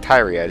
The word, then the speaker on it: Tyria: Now see, they pronounced it different in the game, but it looks like Tyria to me. I think it's just Tyri.